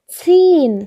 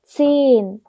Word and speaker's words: ziehen: 그다음 맨 마지막 단어는 여기서 모음 뒤에 이렇게 h가 붙으면 이거 모음을 길게 만들어줍니다. 그래서 여기서 e는 짧은 e가 아니고 긴 e입니다. 그러면 어떻게 발음할까요? ziehen 하시면 됩니다. 길게 발음해 주셔야 돼요. ziehen.